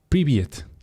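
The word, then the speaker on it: привет: si no estoy mal esto se pronuncia priviet y Qué significa priviet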